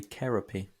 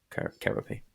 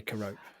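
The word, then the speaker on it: Kerope: Do you know that the correct pronunciation is actually Kerapy? Do you know that? Really? Wow. Yeah. Harry with all the drumming facts. Paul Francis of previous of Zildjian, now of Royal Cymbal Company, says both are okay, but the official pronunciation is Kerapy. Kerapy. Yeah. So. Yeah, but you do sound less of a prat if you just say Carope.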